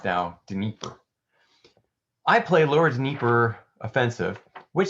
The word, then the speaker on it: Dnieper: Dnieper. So, Dnieper. Just as it sounds. Wow, look at that. It was exactly how it looked.